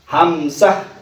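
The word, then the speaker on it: همزة: হামজা, হামজা, টান হবে না, হামজা।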